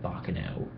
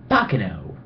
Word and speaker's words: Baccano: re-watching an anime called bokano sorry it's called confirmation point Baccano is how you're supposed to pronounce it I'm assuming and it's basically